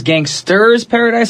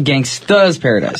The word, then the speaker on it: Gangsta's Paradise: him who did it now to pronounce gangsters paradise for gangstas paradise James gangster without the art gangsta okay just making sure cuz no one wants to mispronounce the name of a song and we need to drop the are there's no are in the title yo instead of the ers and a at the end yes alrighty now this